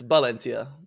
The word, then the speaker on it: Valencia: Valencia is actually said with a B. It's Valencia. Valencia. Here they pronounce their B's as B's.